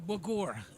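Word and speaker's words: Bougoure: so it's b-o-u-g b-o-u-g-o-u-r-e oh you are a bogor okay sounds French yeah it is French wine and uh look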